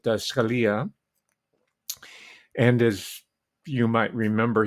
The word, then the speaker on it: Scalia: the flag draped coffin of Antonin Scalia or Scalia where you want to pronounce it I pronounce it Scalia and as you might